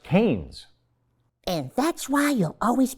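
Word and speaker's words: Keynes: touch their fredman and gouge their ke it's pronounced canes and that's why you'll always be alone you'd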